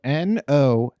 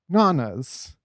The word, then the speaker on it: Nonna: I would call it Nana's. Because why the fuck is that second N there if it's Nona's? You dumbasses. I guess that's how Italians pronounce it, though. Nonna. Right. Nonna. Oh, fuck me. I literally just kind of talked to myself into realizing why people said Nona's.